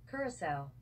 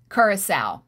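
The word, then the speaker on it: Curaçao: Let's see, we're going to listen to the woman pronounce it. Curacao. Curacao.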